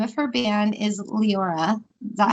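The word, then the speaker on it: Liora: from courtney the name of her band is leora is that how you say it yeah l-i-o-r-a and people pronounce it all kinds of weird ways but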